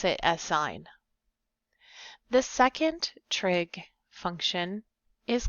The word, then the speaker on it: sin: We don't pronounce it sin. That's a common mistake that a lot of my students do. We do still pronounce it as sign.